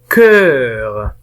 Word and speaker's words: cœur: Alors le premier son, nous avons le son E, cœur. إذا كان لدينا هنا حرف O ملتصقا مع E و U فإنهم جميعا ينطقون ب E.